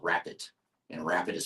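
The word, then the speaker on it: Rappit: And then another example I'll share is a company called Rapid. And Rapid is spelled R-A-P-P-I-T, and it's actually founded by Jan Baan, who founded Baan Software back in the 90s, if you remember that.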